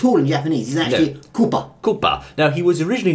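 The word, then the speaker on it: クッパ: se in Japan his name in Japanese is Koopa Koopa ah Koopa Koopa Troopa well you Koopa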